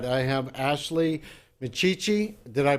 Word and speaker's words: Micciche: It's Micciche, and Micciche. it's very Italian.